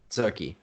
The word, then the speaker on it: Tzurki: Zurki. Zurki. Okay. We're gonna. It's sort of like a TZ. It's like a, I don't know. Like Zadziki. Yeah, it is like Tzatziki. Yeah.